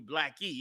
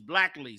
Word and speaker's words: Black Lee: I've been saying it wrong. I'm calling you Blackie. It's Black Lee, Salakia.